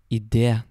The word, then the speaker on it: idé: Very, very seldom you will also see an E with a little accent on the top. And basically what that means is that you add emphasis on the E sound.